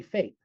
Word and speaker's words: FAPE: One of the most important concepts in the IDA is FAPE which is also typically pronounced as a word by educators. So idea is you spell it out FAPE you say FAPE.